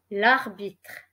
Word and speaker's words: l'arbitre: This word is l'arbitre.